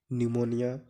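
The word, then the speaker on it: pneumonia: पीएम है जैसे psychology निमोनिया काम कि इन तीनों शब्दों में पीस साइलेंट है को एक त साइकोलोजी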